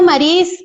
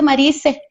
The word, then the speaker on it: Maris: Bueno, yo me llamo, se pronuncia Maris, pero todo mundo me dice Marice. Entonces no hay problema, siempre digo también Marice.